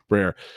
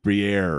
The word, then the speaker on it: Brer: Brer, because Matt was pronouncing it almost like a cheese or something. It was like he was going like Briere or something else like that.